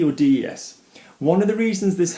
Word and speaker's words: des: of the reasons this happens d e or Des one of the reasons this happens is a